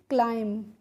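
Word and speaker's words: climb: एम के बाद जब भी बीच बी आता है तो वहां पे बी क्या रहता है? हमारा साइलेंट रहता है। यानी कि बी को हमें नहीं पढ़ना होता। तो इसको हम पढ़ेंगे क्लाइम। ठीक है? बी को हमें प्रोनाउंस नहीं करना है।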